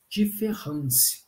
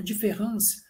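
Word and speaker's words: différance: que seria a diferença só que nessa escrita do francês em vez desse a ele ser escrito com e só que ele é pronunciado do mesmo modo de ferrans mas embora ele seja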